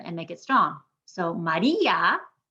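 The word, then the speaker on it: María: make it strong so maria maria three syllables we've made the i strong with an accent mark carney said yeah that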